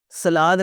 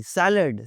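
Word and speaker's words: salad: सलाद नहीं, सैलड, सैलड, सैलड।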